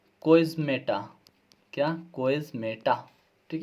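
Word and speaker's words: chiasmata: जो संरचना बनाई जाती है उसे कहते हैं इस प्रकार से लिखना है कोइज्मेटा। क्या कोइज्मेटा ठीक है? स्पेलिंग इस प्रकार से सी एच आई एस एम ए टी ए कोइज्मेटा।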